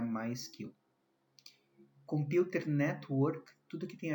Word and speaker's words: MySQL: Na verdade, a gente não pronuncia MySQL, o correto é pronunciar MySQL.